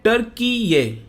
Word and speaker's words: Türkiye: Pronounce कर सकते हैं, लेकिन जो इसका एक्चुअल प्रोनाउंसिएशन है ये है टर्की ये। तो आपको इस तरह से प्रोनाउंस करना है।